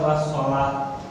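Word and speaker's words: والصلاة: Cara membacanya wassolah, dia lamnya tidak terbaca dan langsung masuk ke dalam huruf sod ya.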